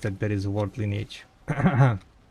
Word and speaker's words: Lineage: And I was making fun of people who pronounce it lineage too. And I was like, what the What? What do you mean lineage? It's line age, not lineage.